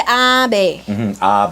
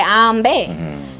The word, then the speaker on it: ambe: They pronounce it a different way, and I can't remember how him say. But ambe medine, I think he say abe. Abe, and then we say ambe.